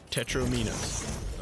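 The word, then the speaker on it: tetromino: Tetris has seven shapes made up of four squares called tetromeinos. Rhymes with dominoes, not tetromeinos.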